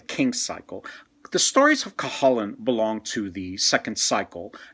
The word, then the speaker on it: Cuchulainn: I've heard it pronounced Cuchulainn. When I was in Ireland, I heard a few people say Cuchulainn. I think Cuchulainn is closer to the way it's supposed to be pronounced.